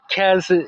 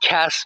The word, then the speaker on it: Kes: I don't, but Kez is, and I keep pronouncing it with a Z at the end. That's just the American. I know it's pronounced Kes, but that's just it's very difficult to, with the American accent, not to soften the S on the end of words.